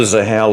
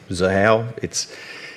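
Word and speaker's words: Xahau: Now, we're doing it on the Zahao ledger. I understand it's a hard word to pronounce when you look at it. Zahao, it's a thing that names have got X's in this space.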